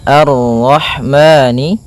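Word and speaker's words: الرحمن: Ha yang berharakat sukun. Dan sifat ha itu yang paling mencolok adalah sifat hamnya yaitu mengalirnya nafas ketika kita membacanya. Arrah arrah. Kemudian dan jangan sampai memantul haya.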